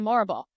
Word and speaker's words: Morrible: The Wizard and Madam morrible which I mean I realiz I also realized rhymes with horrible so it was there